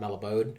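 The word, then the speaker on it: Mallobaude: the black names name I think that's pronounced malabad m a l l o b a u d e malabad malod merrow broth kind of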